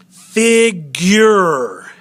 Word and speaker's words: figure: Now let's look at figure. Figure. Fig, accent, your, unaccented. Unaccented final syllable.